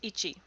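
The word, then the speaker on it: 壱: So this kanji is pronounced ichi.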